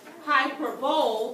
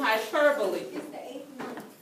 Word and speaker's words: hyperbole: if you also like it looks like it should be pronounced as hyperbole but it is hyperbole all right okay ladies